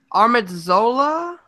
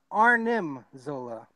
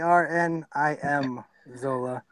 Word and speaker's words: Arnim Zola: I'm gonna say this wrong, but is it Armadzola? Can you say that again? I'm not sure how to say it. It's like Armanzola or something like that. I'll take that. It's close enough. It's Arnim Zola.